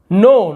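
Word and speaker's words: know: नो, नो यानी जानना, नाउ नहीं पढ़ेंगे, नो यानी जानना, आई नो मैं जानता हूँ, वो नो, ठीक है।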